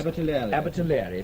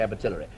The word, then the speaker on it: Abertillery: Immediately behind it comes, I can never pronounce this. Abertillery, thank you. I always want to say Abertillery.